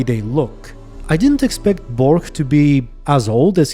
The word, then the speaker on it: Borch: this episode started and Bork showed up by the way they pronounced it borge here I think I am gosh three jackdaws and Bork in the audio books but anyway so when